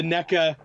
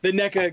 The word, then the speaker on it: NECA: I've always pronounced it McFarlane, and I always will. Yeah. And I've always pronounced it Nika, and I always will.